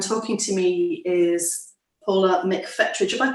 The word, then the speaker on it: McFetridge: in london and talking to me is paula mcfettrich if i pronounce that right yeah he's artistic director of